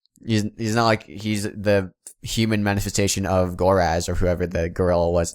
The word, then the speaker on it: Goraz: That's He I said said Goraz, not Goraz.